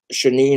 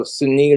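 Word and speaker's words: Sinéad: Shanine O'Connor, I think her name was. She was anti-sicko and anti-establishment. I'm like, yeah. Oh, Sinead O'Connor. Yeah, sorry, I butchered her name.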